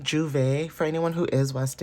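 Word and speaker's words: Jouvert: So Juvet could be very significant. Someone could be going to Juvet even though it's not spelled like that. It's spelled J O um J O U V E T if I'm not mistaken.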